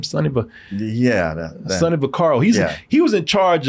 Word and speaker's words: Vaccaro: is right here guy named uh Sunny uh Vaccaro is how you say his name Sonny but yeah Sonny bacaro he's he was in charge of setting up